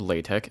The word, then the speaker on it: LaTeX: about a thing called ley Tech it's spelled like the word latex but pronounced ley tech essentially what it is